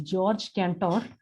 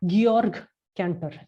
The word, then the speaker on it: Georg Cantor: we pronounce it as george cantor uh it is actually georg cantor anyway york cancer he